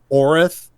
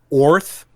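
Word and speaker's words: Oerth: Some people say Orith. I've heard it pronounced Orth. Yeah, Oith, things like that. Oith. I've heard it pronounced like Oith, like it had a Brooklyn accent, like Oith, on the continent of Orik.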